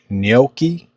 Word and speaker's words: gnocchi: It's actually pronounced gnocchi, potato gnocchi. This is gnocchi and meatballs.